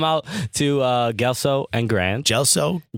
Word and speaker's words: Gelso: Gelso, appropriately pronounced GELSO and Grand on the corner of Mulberry and Grand Street.